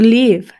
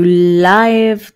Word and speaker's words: live: Mother siguiente verbo to live to live y aquí mucha gente se equivoca a veces al pronunciar y dicen to Life to live no to live es vivir y puedes decir a